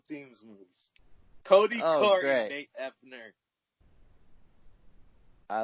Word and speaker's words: Nate Ebner: Nate Ebner.